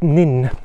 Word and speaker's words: Nans: the far gala it's written nuns but it's pronounced nin as these two ladies told me before so